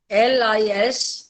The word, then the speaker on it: listen: Hear, H-E-A-R, and listen, L-I-S-T-E-N. In listen, T is silent.